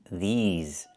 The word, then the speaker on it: these: I need the long E like green beans. These. Plus the Z sound like in zebra and zipper.